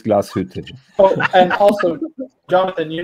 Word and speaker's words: Glashütte: Tim, nobody does it better than you, but it's Glashütte.